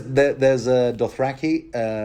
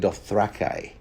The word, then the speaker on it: Dothraki: Then there's Dothraki, but he's also the worst kind of his own people.